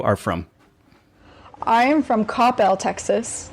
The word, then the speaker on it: Coppell: And I would like you to pronounce the city and high school where you are from. I am from Coppell, Texas, not Coppell.